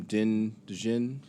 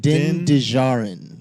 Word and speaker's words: Din Djarin: Din Djarin. I Well, think it's Din Djarin. Djarin. The D is Yeah, the D is silent, but I so think it's Din Djarin.